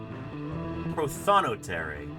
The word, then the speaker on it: prothonotary: ter really never winter the emphasis on the second cabel okay okay prothonotary prothonotary starting with proton